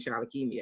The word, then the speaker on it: Shalakemia: every video I'm like and my name is Charlotte Kimia because I need people and I said what